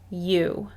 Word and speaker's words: you: either this word is you we've talked about how the vowel team oh you can say ow but not with this word this one is you look at this next